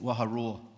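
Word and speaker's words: Waharoa: And think of a lion, what a lion does, a lion roars, and that's how we pronounce that, Waha Roar.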